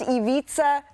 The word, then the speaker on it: Ivica: Pronounced Ivica Zubac.